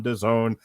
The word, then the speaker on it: DAZN: Ortiz versus Frederick Lawson on DAZN, which Robert Winfree reminds us rhymes with calzone.